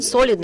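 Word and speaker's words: солидные: which is not typical this stress on the first syllable in the word solidne is not typical for russian but still we have to be correct about that so back to the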